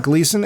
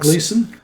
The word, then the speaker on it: Gleeson: I don't know how to pronounce that. Gleason as General Domhnall Hux. Gleeson.